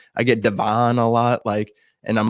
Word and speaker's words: DeVaughn: Is it DeVaughn Taylor? We hitting the Vaughn hardest. Yes, sir. DeVaughn.